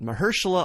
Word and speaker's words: Mahershala: Mahershala Ali, fantastic actor, fantastic year. And our second mispronunciation of the week comes courtesy of John Schnepp.